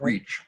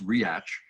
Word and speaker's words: Reach: continuum yes yes uh a book by angus reach looks like reach but it's spelled r-e-a-c-h but pronounced react uh if memory serves it's 1847 oh it's